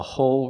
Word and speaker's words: whole: your tongue oh oh I can't say a whole Rie I have to make a complete l sound touching the top of my mouth a whole review a whole review